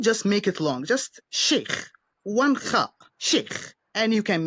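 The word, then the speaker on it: Sheikh: I He's saying stop saying chic in the Americanized ways and say shake, which is what it would be in the in proper Arabic.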